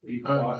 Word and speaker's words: Belvoir Park: Yeah, woodland management plans, Doncaster, Belvoir Park, Beaver Park, it's actually pronounced, Northern Ireland, Beaver Park, another beautiful site.